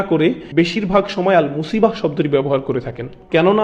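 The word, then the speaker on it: مصيبة: আবার শব্দটির শেষে রয়েছে তা মারবুতা যেজন্য আমরা মুসিবাহ উচ্চারণ করি মুসিব না কিন্তু আর শব্দের শেষেই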